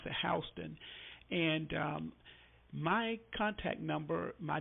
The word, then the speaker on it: Houston: It's spelled like Houston, but we pronounce it Houston.